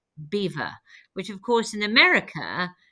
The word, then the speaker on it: Belvoir: middle of England and in that impeccable French accent he declared Belvoir beautiful view and as we know the English have never been able to pronounce the French and so over the generations it became Beaver which of course in